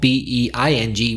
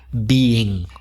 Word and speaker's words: being: Whereas with the present participle, B-E-I-N-G, we normally make an effort to stress the fact that it's two syllables and pronounce the first one as E. So being, we would normally stress the fact there's two syllables, being.